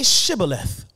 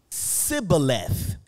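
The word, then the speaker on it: שיבולת: And when he said, "No," they said to him, "Well, say Shibboleth." And then they would say Sibboleth, for they could not pronounce it right.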